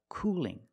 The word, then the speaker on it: cooling: let's change cool to Cooling now the L and cooling is it a dark l or a light L that's right it's a